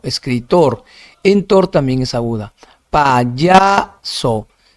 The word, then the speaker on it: payaso: Payaso, paya, ya. Se detienen ya, entonces ahí sería sílaba tónica, se larga, payaso. Si fuese en so sería payaso, entonces no payaso en ya.